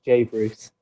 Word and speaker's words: JBRUUS: Everyone gets confused, and a lot of people don't know how to pronounce it. So it is, it's JBRUUS, but it's JBRUUS Music, all one word.